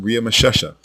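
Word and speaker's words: Ramesses: but not once does the name riia mesha which is the correct way to say ramsy ever appear in the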